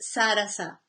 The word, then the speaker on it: Sarasa: I know it's written Saras, but it's pronounced with a little A at the end, so it's pronounced Sarasa.